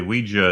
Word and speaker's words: Ouija: tonight's episode we watched Ouija Ouija Ouija actually Ouija is the preferred pronunciation by who no one on the dictionaries